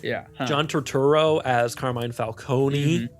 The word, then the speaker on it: Falcone: John Turturro as Carmine Falcone. Say it right, movies. It's Falcone.